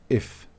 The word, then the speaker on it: if: Esta I corta no es común, es como rara, porque es como una mezcla de I tirando a E. Por ejemplo, cada vez que tenga la I voy a pronunciarla. Por ejemplo, if. No es if, no es if, sino if. If. Más tirando como una mezcla entre una I y una E.